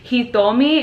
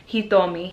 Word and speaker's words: Hitomi: Hitomi, it's almost like the T is a TH. Hitomi.